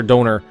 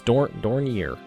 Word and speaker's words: Dornier: and I'm pretty sure Donor is incorrect. That's just what I say in my head, and I've been pronouncing that way for years. Donye or something like that. Donye? Dornier? Dornier? It's Dornier. Although, failed to steal one